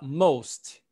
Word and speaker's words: most: Aqui você vai falar most. Most. Most. A maioria, ok? Most. Most é a maioria. Agora, cuidado quando fala most e quando você fala must. Ok? A pronúncia é diferente.